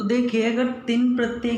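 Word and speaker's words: क्तिन्: इसे हम कितिन नहीं बोलेंगे, तिन बोलते हैं। क साइलेंट रहता है।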